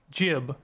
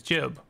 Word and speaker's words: jib: Well, that's Jib. G-I-B is Jib. Isn't it? Like, I like the cut of his jib.